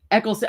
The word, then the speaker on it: Eccleston: Eccleston.